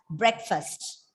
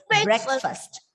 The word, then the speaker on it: breakfast: So together you pronounce this word as breakfast, not breakfast, not breakfast, or not breakfast. It's breakfast, breakfast, breakfast. The stress is on the first syllable.